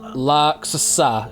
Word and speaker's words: laaksossa: Oh, laaksossa, should I say, sorry. So there you go. That's roughly how Google says it's supposed to be pronounced.